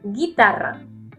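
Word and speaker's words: guitarra: Rafa when you say you don't pronunciate that you you don't say you say guitara when we pronunciate the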